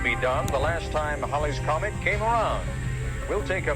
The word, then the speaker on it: Halley's Comet: to tell us that it should actually be pronounced Holly's Comet but by that point calling it Haley's Comet had already stuck news reports would transition